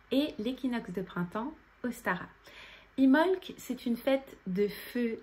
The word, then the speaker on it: Imbolc: de ce sabbat dimofte d'ailleurs on l'écrit immelt mais on ne prononce pas le b ce sabbat il est entre le solstice d'hiver l'ul et l'équinoxe de printemps ostara imholz est une fête de